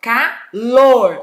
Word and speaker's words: calor: a sílaba forte aí olha ur é calor olha como eu falo calor ó sílaba forte que é a última então aqui